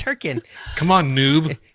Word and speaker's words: Hurricane: never even been there apparently I know you're pronouncing it wrong it's herin come on Noob it's it's h it's h